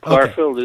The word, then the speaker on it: Clarfield: and tonight with clarfeld clarfeld I I think I'm pronouncing that correctly am I not yes clarfield is correct it's so hard to